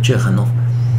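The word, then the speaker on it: Ciechanów: El pueblo, y no importa el nombre, lo voy a mencionar, Chechanov, se escribe muy curioso, se pronuncia Chechanov.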